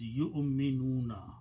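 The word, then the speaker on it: يُؤْمِنُونَ: Waw here is a chair for Hamza. Do not pronounce the waw.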